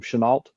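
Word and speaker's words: Chennault: He originally had went to serve with um I always forget how to pronounce this guy's last name Chenalt with the Flying Tigers in China.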